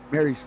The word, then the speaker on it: Maris: Maris? Mary's.